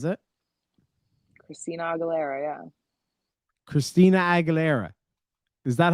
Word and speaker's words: Aguilera: Aguilera Aguilera is it Christina Aguilera yeah Christina Aguilera is that how you say it yeah well